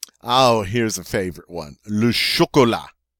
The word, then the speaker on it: chocolat: here's a favorite one Lucia Cola Lucia Cola notice that T is not pronounced on the end and you've guessed it